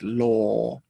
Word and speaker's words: law: often hear confusions with law and low just make sure you get the good ore sound the very small mouth and the o distinct from each other moving on to another